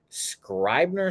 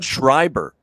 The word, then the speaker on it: Schreiber: it's gonna be a bullpen day with John Scribner script I could never say his name correctly I don't know what's wrong with me with his name John Schreiber yeah so John Schreiber like Lee F even